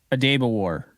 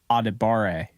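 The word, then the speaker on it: Adebawore: how to pronounce because I used to call him Audi what auditoma wa a daba War and I found out that it's actually adibare so it's spelled like a dab of War which honestly kind of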